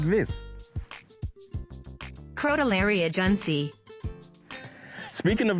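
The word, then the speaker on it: Crotalaria juncea: lady came along and told me how to pronounce it, like this. Crotolaria junsei.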